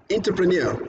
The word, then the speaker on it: entrepreneur: this was take the stress on the last syllable check again the spelling suffixes now enter again classical examples like entrepreneur entrepreneur sorry the what is entrepreneurial sorry you